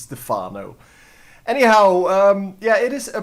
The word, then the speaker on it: Stephano: He's French. It should be pronounced as Stephano.